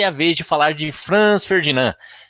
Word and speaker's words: Franz Ferdinand: Meu, que prazer enorme participar aqui do Esfarelados e ainda para falar de Franz Ferdinand. Olha aí, já me corrigindo na pronúncia, né? Franz Ferdinand. É isso mesmo.